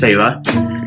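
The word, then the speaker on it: Feyre: r f e y r e which is pronounced farra they have a pronunciation guide in the in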